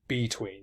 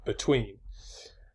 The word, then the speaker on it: between: You don't say between, you say between.